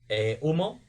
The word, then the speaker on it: UMMO: How do you say that last one? Umo, that it's spelled UMMO.